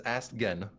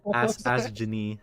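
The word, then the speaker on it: Astgenne: I've always pronounced it as Astgen. Asken? Yeah. Damn. Yeah. My pronunciation being the problem. I was like, bro, who has an H in their name? What the fuck? Ask Ginny.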